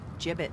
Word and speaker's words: Jibbitz: one alone Hey look if we had some gibbets leftover hobbits what it's pronounced jibbitz jibbitz are you sure uh-huh well no one